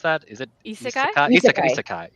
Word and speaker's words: isekai: How do you pronounce that? Is it Isekai? Isekai.